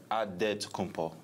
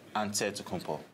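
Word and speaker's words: Antetokounmpo: a D so it's a dead to come PO but in the Greek way you say with the NT like onset to compo whatever you got just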